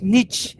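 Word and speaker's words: Nietzsche: né friederich niet né Friedrich niet é assim que se pronuncia melhor esse cara é uma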